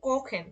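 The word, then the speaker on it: kochen: এখানে যেমন দিচ্ছি কখেন, দেখেন এখানে খর উচ্চারণটা আসছে কখেন, কখেন মানে রান্না করা।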